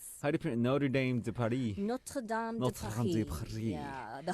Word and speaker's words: Notre Dame de Paris: How do you pronounce Notre Dame de Paris? Notre Dame de Paris.